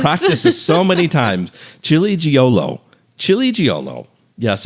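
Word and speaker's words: Ciliegiolo: Chili Giolo. Yes, it's spelled Ciliegio.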